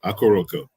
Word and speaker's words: Akoroko: whose latest Endeavor is akaroko am I saying it right sir it's cool close enough man akuroko all right well we